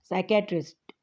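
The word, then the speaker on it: psychiatrist: कहते हैं Automall साइकेट्रिस्ट साइकेट्रिस्ट यानी माहिरे नफ्स या स्टूडेंट्स पी साइलेंट है साइकेट्रिक पढ़ा जाएगा माहिरे नफ्स ट्रीट्स मेंटल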